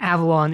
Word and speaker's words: Avalon: Avon is 2 syllables and Avalon is 3.